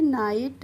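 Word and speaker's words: night: तो ऐसे ही एन आई जी एस टी है, तो एन का क्या हो गया, न हो गया, और आई जी एस टी का हो गया आइट, तो ये इसको पढ़ लेंगे नाइट।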